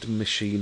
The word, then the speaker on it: Mashean: It's M-A-S-H, like mash, like mashed potato, and E-A-N, which is from lean. So if we build Mashean, and it's these digital canvases, thanks to the builders a few doors away.